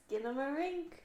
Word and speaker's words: Skinamarink: Skinamarink. Is supposedly how you pronounce this damn movie.